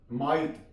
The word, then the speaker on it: might: माइट, MIGHT, जी silent है यहां पे, माइट। साई, SIHHIH, साई।